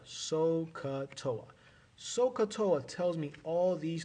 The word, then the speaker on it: SOHCAHTOA: Okay, so, S-O-H, ka, with a strong H sound at the end, and toa, SOHCAHTOA.